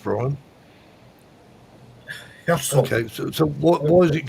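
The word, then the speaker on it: Hirsel: Here's how's that actually pronounced, Brian? Herzl.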